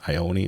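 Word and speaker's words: Ione: starring John Cusack and I own Ion or Ioni Sky. I think I've heard her pronouncing her name Ioni, which is kind of weird but different.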